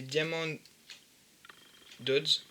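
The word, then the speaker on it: Diamond Dotz: Alors, voilà, avec cette marque-ci de diamant, donc c'est Diamond Dodds. Donc ça s'écrit D-A-M-O-N-D espace D-O-T-Z.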